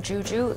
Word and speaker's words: Zhu Zhu: yeah well the it's it's pronounced the same Juju the two my family